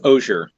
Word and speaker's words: Osier: It's pronounced Osier. Osier.